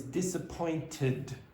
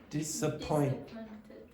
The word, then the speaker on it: disappointed: The last word in that sentence is disappointed. Say again. Disappointed. Yeah, now the way she pronounced it the first time was disappointed with no id at the end.